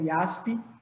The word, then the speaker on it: JASP: podem utilizar esse software que chama IAF E aí tá escrito como Jaspe mas pronuncia como IASP é um software gratuito